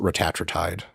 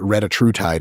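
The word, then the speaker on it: retatrutide: bunch of them but I pronounce it ratri tide right you can also say it ratr tide if you want to say like three words instead of one yeah so like ratri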